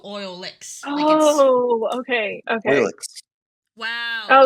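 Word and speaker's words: Oilix: oil X because I so it's it's spelled o i l iix and it's a apparently derived from oil and mix so oil licks gu oh okay okay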